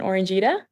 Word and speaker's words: Orangita: Let's talk about, is it Casperita and Orangita?